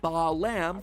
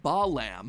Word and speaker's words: Balaam: All three of them, Bael, Pie Man, and Ba lamb, are phonetic ways of pronouncing the names Bael, Paimon, and Balaam, three king demons from the Ars Goetia.